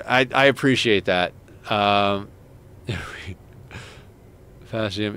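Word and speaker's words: Faecium: Um, Fasium is pronounced feces.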